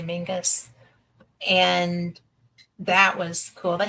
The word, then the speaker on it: Menzies: They took us to so many places, but um, Castle Mingus, it's spelled Menzies, but they say Mingus.